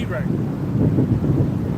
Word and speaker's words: Iraq: Iraq.